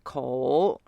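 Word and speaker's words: 口: On voit un carré au milieu qui signifie la bouche et se prononce ko.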